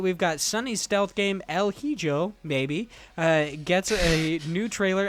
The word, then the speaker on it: El Hijo: El Hijo. Sure it is. There's an H in there. What are you talking about? The H is silent. The J is an H.